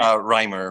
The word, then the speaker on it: Reimer: Here with me, we have Reimer. Did I pronounce that right? Reimer.